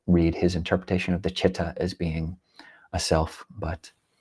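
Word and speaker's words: citta: So spelling is C-I-T-T-A, although it is pronounced in English C-H, Chitta. Modern day teachers, you talk about the Chitta, the mind.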